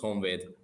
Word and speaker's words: Honvéd: How do you pronounce it? Budapest Honvéd.